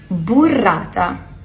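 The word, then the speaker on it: burrata: This gorgeous ball of burata. I think that's how it's pronounced. It's pronounced burata. Burata. Burata.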